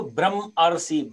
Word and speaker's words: ब्रह्मर्षि: ऋषि, ब्रह्म धन ऋषि, तो हम जिसको बोलेंगे ब्रह्म ऋषि को ब्रह्मर्षि, ब्रह्मर्षि आर निकल रहा है ना उसमें उच्चारण, ब्रह्मर्षि आर आ रहा है इसमें, तो ये दोनों मिलकर के ब्रह्मर्षि हो जाएगा।